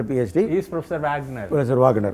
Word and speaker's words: Wagner: He is Professor Wagner. Professor Wagner, right. Wagner. Because A, in German language, is A, not right. A. Right. E is A. And German, Americans say Wag. Wagner.